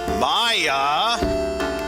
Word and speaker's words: Maya: we already know that maya i'm even stressing her name so i'm pronouncing it correctly is the king's daughter